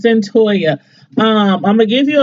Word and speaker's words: Cyntoia: I'm like, Cyntoia, how do you pronounce that name? But anyway, it's Cyntoia.